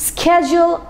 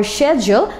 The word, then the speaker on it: schedule: is a wrong pronunciation so either it's schedule or schedle but not that's wrong thing so well today